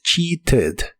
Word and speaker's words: cheated: La pronunciación oficial es cheated. Cheated. Pero en inglés conversacional, la t de esta palabra la suelen pronunciar como ere y suena como cheated.